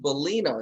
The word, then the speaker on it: Bulino: I have on Zoom with me right now, Tracy Bulino. Is that how you pronounce it?